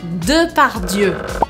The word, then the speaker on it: Depardieu: Bom, a pronúncia desse nome é Gérard Depardieu.